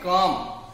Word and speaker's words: calm: How will you pronounce it? Calm. You do not have to pronounce L. You have to keep L silent.